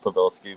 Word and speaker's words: Pavelsky: It's pronounced Pavelsky, but you got close to it.